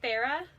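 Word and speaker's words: Feyre: I had to do I think it's pronounced Farah Farah but I call her faah so I had to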